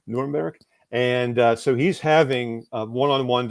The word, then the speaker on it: Nuremberg: He was the lead American military psychologist at Nuremberg, if I try to pronounce it like a German would, Nuremberg.